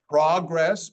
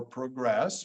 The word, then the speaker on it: progress: Another exception, remember rule number one, crazy language, paragraph, program, progress or progress. Progress is a noun. Progress is a verb.